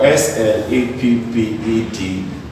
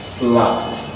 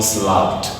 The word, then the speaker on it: slapped: If I have SLAPPED, this is pronounced as slapped, not slapped. It's called slapped.